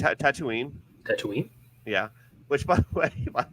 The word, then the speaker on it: Tatooine: which by the way my friend pronounced it tattooing or something like that oh no and then like her kids were saying tattooing and they're like she's like are you sure it's Tatooine and we're like yeah